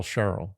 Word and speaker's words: Cheryl: So, question, is Carol and Cheryl pronounced exactly the same except for the sh and the k? Or is there a slight difference? No, they're pronounced the same. So it's Carol, Cheryl.